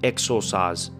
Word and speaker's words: exorcise: But I believe it's pronounced as exercise, but it's not exercise as in lifting weights or to exercise a practice or something.